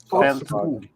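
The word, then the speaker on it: Fältskog: Feldskog.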